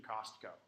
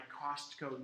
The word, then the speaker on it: Costco: really weird with Siri, you have to pronounce the T in Costco. So I can say, add Tabasco sauce to my Costco note, and it will add it to the note.